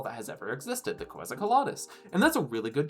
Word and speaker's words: Quetzalcoatlus: That That is not the pronounce button. Quetzalcoatlus.